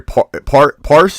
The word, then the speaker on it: Parse: I'm sorry, Parse. Is that? Am I saying it right? Yep, you said it right.